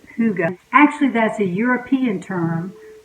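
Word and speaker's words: hygge: heart to get hy g GE which is pronounced Kouga actually that's a European term that means comfort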